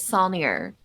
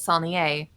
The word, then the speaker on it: Saulnier: The Texas pronunciation is Saulnier. The proper pronunciation is Saulnier, as I've been, for long enough. And I think I'm the only one that says it that way in my family, because I got yelled at by a music instructor in college. who told me I was saying my last name wrong.